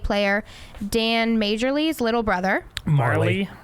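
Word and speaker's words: Majerle: Dan majorly's little brother Marley Marley you have a jam yeah that's how it's pronounced the J is silent Marley's little brother had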